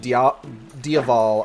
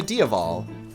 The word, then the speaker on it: Diaval: just changed it to Diaval. Spelt with a V, but it's phonetically the same as the word for devil in Irish.